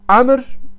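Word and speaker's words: عمرو: Odur ki li imamin nuhat Ebi Beşir Amr vav olunca Ömer değil Amr okunur. Bakın vav R'ye bitişik olunca Amr okunur.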